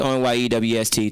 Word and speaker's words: Anye West: But I'm Anye West. It's ONYEWST.